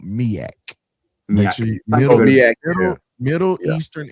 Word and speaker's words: MEAC: So Will, just to make sure you say it correctly, because I don't want nobody to mess with you. It's called MEAC.